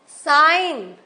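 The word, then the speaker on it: sign: नेट काम हम एल नहीं बोल रहे कुड साइन हम जी नहीं बोल रहे हैं आलैंड बटन डबल टी है बट एक टी साइलेंट है तो इस तरह से बोल्ड किया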